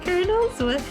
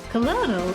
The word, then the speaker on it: Colonel: the the the corn Colonels and it's like he's like no I just realized my overlay isn't on like you keep saying colonal it's Colonel and I'm like what